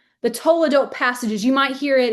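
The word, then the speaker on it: toledot: It's called the todote passages. That's to o l e d. The toadote. T O L E D O T. The toadote passages.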